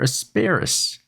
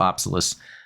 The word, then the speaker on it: Apsalus: So, the Apsalus, or Asparas, or asparagus. No, it's the Apsalus.